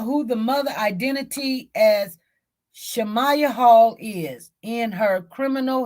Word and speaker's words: Shamaiya: her family either so they say who is shamaya Hall that's how you say her name shamaya